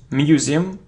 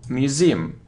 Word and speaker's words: museum: wickle wickle wickle look it isn't Museum no Museum so you see that the stress is on the second syllable museum museum it isn't